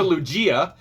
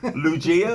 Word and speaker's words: Lugia: So this is a Lugia. It is a steam blast. Here. We wouldn't be able to pronounce anything. No. Lugia?